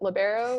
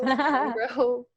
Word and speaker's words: libero: Is it libero? Libero? Is it something else?